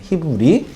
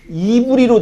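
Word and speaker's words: עברי: 히브리. 한글로 히브리라고 읽죠. 영어로 히브리 H로 들어가거든요. 근데 원문에는 히브리어에는요 이브리로 되어 있어요.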